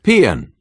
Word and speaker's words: paean: Paean.